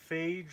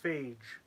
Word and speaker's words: Phage: on with that um phage rhymes with mage oh okay that's good to know so it's phage okay interesting hey dresden